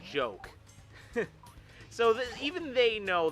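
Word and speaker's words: Joka: too but um yeah the way that you pronounce names in Fanta million is different than how you pronounce it in English and Japanese shoka in chap Infanta million is pronounced as joke so that even they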